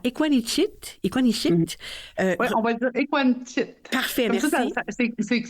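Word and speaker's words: Ekuanitshit: Oui, on va dire Equanichit.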